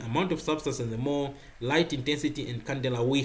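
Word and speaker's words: mol: the more is mou m o l pronounced more then there is the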